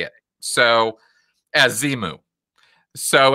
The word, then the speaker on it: Xenu: Ron Hubbard literally did spell it out and say it. So, as Xenu.